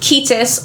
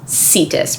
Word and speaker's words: Cetus: a sea monster, and this sea monster is called Ketis or Cetus, right? Depending on if you use that hard or soft C.